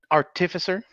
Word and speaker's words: artificer: It's just got the emphasis on the wrong syllable.